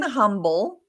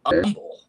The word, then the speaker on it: Humble: It's just pronounced umble. Like there's no H there.